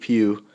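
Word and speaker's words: Pugh: Robinson and Stephen Steve Pew I can't believe that's how you spell how you say it Pew but I am very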